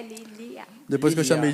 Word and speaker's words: Lília: É Lília ou Lilian? Lilia, sem M, sem N, Lilia.